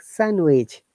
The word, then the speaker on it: sandwich: D is always silent in these words, like sandwich.